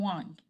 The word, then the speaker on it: Wang: My name is Wang, or Wing as American pronunciation.